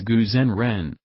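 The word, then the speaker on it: Gu Zhen Ren: another name deoished gu the chinese name is pronounced as guzen ren gu is the name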